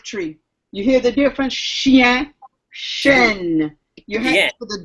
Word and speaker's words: chien: You hear the I? Chien. Chêne is an oak tree. You hear the difference? Chien, chêne.